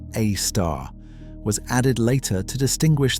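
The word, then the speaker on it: Sagittarius A*: The asterisk pronounced a star was added later to distinguish the compact persistent radio emission from the larger diffuse radiation filling the galactic center.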